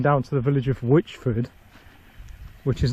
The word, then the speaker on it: Whichford: But Whichford is not famous for witches, and it's not spelt in the way that you'd spell witch.